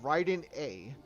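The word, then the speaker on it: Raiden Ei: You have Raiden A, which is like spelled with like when you say A, it's like E-I A, but there's a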